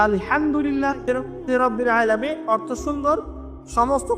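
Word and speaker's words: الحمد لله: আপনি বলছেন for example যে আলহামদুলিল্লাহ রাব্বিল আলামিন অর্থ সুন্দর। সমস্ত প্রশংসা আল্লাহর জন্য যিনি বিশ্বজাহানের প্রতিপালক হা এর উচ্চারণ ভুল করেছেন বলেছেন আলহামদুলিল্লাহি রাব্বিল আলামিন অর্থ বিকৃত হয়ে গেছে অর্থ হয়েছে সমস্ত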